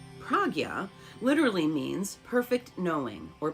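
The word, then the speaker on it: prajñā: Veda means knowledge, and Prajna, pronounced Pragya, literally means perfect knowing or perfect knowledge, and it is commonly understood as wisdom.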